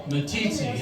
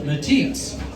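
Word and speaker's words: Meeteetse: yeah well there's a there's a town called matiti in Wyoming if you never been to matiti it's quite a place people it's it's spelled me t e TS e and most people that don't know it call it MTI so uh I had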